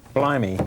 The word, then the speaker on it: blimey: Blimey. This is a look at the London art scene. Yeah. Pronounced as Dick Van Dyke would pronounce it.